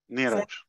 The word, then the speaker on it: Neeraj: So Ash, am I saying the name correct as I introduce Neeraj? Am I? No. Neeraj. Neeraj? Yeah. Okay. So Susie, first of all, yeah, you're pronouncing my name correct, so don't worry.